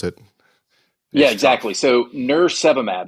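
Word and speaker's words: nirsevimab: it yeah exactly so nurse seab it's almost like nurse and then virus and then monoclinal antibodies soab right so I think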